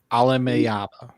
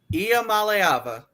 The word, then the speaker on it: Iamaleava: UCLA quarterback Nico Alamea. I I butchered it, too. Anony's our resident. I became the expert today when I heard him say it. Nico Mallaya.